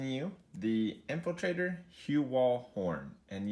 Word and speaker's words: Horne: the infiltrator hue wall horn and yes folks the e is silent the yes I just